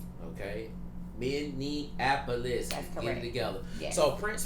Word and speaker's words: Minneapolis: Not Minian Annapolis and all that stuff that everybody be talking they cannot. It's like, why y'all saying so many syllables, dog? Too many letters. It's Minapolis.